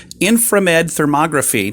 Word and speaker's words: Inframed Thermography: It's called Inframed Thermography.